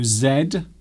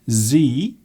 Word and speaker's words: Z: And also Z, or as Americans say, Z.